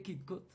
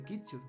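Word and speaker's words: Kirchhoff: lo otro en la ley de kit kat que nos dice lo siguiente o de kutcher pronunciado correctamente dicen que la suma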